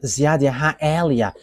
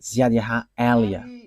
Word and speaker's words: Ziadiaha Elia: And that is not a Malagasy name, but that is the name from us, and that is my name, so I pronounce it as my father pronounced it, Ziadiaha Elia.